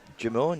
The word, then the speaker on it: Jimeoin: Jimeoin, you said it right.